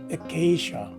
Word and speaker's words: acacia: sounding letter a so basically this word is pronounced as acacia so if i were to use this word